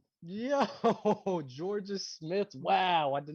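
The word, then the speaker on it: Jorja: Jaira Smith. Georgia, fool. Oh, that's how you say it? Georgia? The British one. Wow. I've said it wrong.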